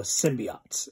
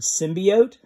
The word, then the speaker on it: symbiote: that i make is i tend to pronounce the word symbiote because that was how i read it when i was a kid that was what it sounded like in my head instead of symbiote and there's about a